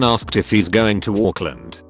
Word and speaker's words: Auckland: if he's going to auckland the nz pronunciation sounded like oakland so he stayed on